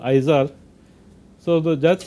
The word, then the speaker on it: IZAR: My name is IZAR, pronounced IZAR, but you can call me if you want.